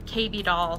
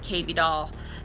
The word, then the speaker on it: KB Doll: L to a B, and it rhymes with baby doll, and so I just made it KB Doll.